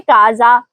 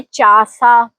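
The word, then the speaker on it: casa: ध्यान दें। यहां शी के बाद आया है। इसे हम पढ़ेंगे काजा ना के चासा।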